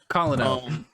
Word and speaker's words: colonel: yay first of all why is colonel spell like that would pronounce that way colin amazing second of all